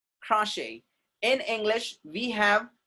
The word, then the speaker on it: crochet: For example, crochet. Do we say crochet? No. Shit हो जाएगा फिर एकदम वो. That's what crochet. Crochet.